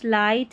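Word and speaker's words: light: Number 10 पर देखिए जी H silent है, यानी कि ये बोला ही नहीं जाता।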